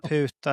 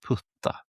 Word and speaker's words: puta: Vad bra att du uttalade det på det viset och inte så det blev putta. Nej. Putta mun. Puta, det står ju puta. Ja, man kan uttala det som putta också.